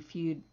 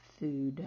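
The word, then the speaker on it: fude: F-U-D-E, Feud. Looks like Feud, but it's Food.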